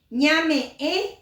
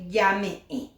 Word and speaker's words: ñame: Ñame ñande ya esa es la forma correcta de decir en vez de llame va R porque ñ es nasal.